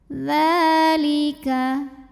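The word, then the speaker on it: ذلك: Dzalika, ini dihukumi dengan mad asli atau boleh juga mad tabi'i. Mad tabi'inya mad tabi'i muqaddar karena ditulis dalam bentuk fathah berdiri di atas huruf dzal. Maka cara bacanya dipanjangkan dzalnya ini sepanjang 2 harokat saja.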